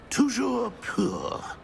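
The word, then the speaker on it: toujours pur: Tujour poor.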